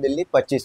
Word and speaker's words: Dilli 25: 40 फुटा पर और जिसका नाम दिल्ली 25 है उसको हम लोग प्रोनाउंस करते हैं दिल्ली 25 के नाम से अच्छा जिसके पीछे एक